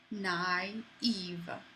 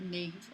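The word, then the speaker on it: naïve: We actually use um the trema in English on this word naive. Okay? If without that, it would just be sort of naive or you wouldn't pronounce this i. but not if or naive. Um you the reason you pronounce these separately is because of that accent train.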